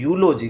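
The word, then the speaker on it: eulogy: अगले को कहते देखो दिखने में क्या ई दिख रहा है क्या दिख रहा है ई लेकिन इसको वास्तव में क्या पढ़ते है यूलॉजी क्या ई यू एल ओ जी वाई यूलॉजी करते हैं यह आया यह भी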